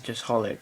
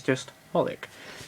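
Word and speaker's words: xxxHOLiC: be XXX holic but from my research apparently it's just holic that's probably wrong but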